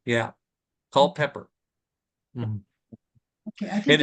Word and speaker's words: Culpeper: That's just the spelling and the pronunciation. Yeah. Culpeper.